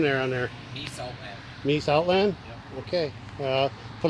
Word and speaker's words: Mies Outland: How do you pronounce that name there on there? Mies Outland.